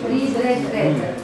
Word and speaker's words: read: On écrit avec A dans les trois formes, mais ça se lit read.